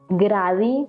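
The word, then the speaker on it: Grady: no estoy mal es gradi, pero se llaman, o sea, la pronunciación sería como gravy, algo así.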